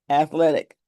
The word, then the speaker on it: athletic: One, two, three sounds. Three syllables. Athletic. Not athletic.